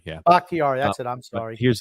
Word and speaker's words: Bakhtiari: They're getting back their left tackle, David Bakhtiari. Yeah. Bakhtiari, that's it.